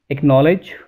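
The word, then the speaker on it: acknowledge: Letter के एंड क्यू, यानी कि अगर के और क्यू से पहले सी आएगा तो सी जो है वो साइलेंट हो जाएगा।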